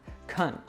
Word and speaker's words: can: So can is often pronounced in the weak form with a schwa sound, kun. And when we have another word before it, then it often links, like I can.